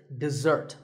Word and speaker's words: dessert: this word this is dessert notice that the first syllable is dip and the second starts with a Z sound we stress the second syllable dessert this word refers to something